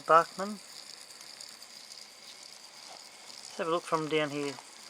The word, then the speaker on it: Bachmann: are made by Bachmann some people pronounce it batchman it's probably supposed to be pronounces Bachmann they look from down